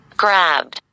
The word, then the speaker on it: grabbed: الدي نطقناها دي ليه؟ لأن البي voiced. البي منطوقة فيها فرقعة. Grabbed. Grabbed. لكن لو كانت حرف زي الاف مثلا فيه كه يبقى كنا هننطق وراها الدي ايه تي زي كيكت فينيشت.